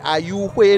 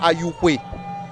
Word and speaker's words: Ayou-Xwe: et je dis Ayouhwe, non pas Ayouhwe. C'est important puisque je le prononce dans la langue Aïzo, qui est la langue principale d'ici. Ce n'est pas Ayou, Ayouhwe, puisque cette langue a une intonation aiguë qui permet vraiment de le distinguer d'autres langues de la même famille.